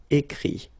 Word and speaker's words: écrit: But then phonetically it's I as well, because you don't pronounce the final T, okay? Écrire, écrit.